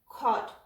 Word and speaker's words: caught: is cur then ah and gh is silent here caught fought gh is again